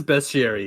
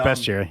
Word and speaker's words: bestiary: from it is best Siri it's pronounced bestiary yeah so dumb uh